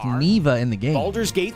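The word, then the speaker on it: Neva: know I don't know why they keep saying neeva it's pronounced Nea in the game balers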